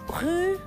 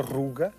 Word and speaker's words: ru: António Ru parece francês de e barrio está quase bem. Ru quase parece francês. É verdade. Ortograficamente é igual a francês. Também existe a pronúncia ruga no mirandês de de